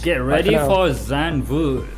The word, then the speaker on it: Zandvoort: for Zandvoort. How do you pronounce it correctly, man? Zandvoort.